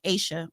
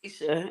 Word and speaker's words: Aisha: Aisha. Yep, Aisha.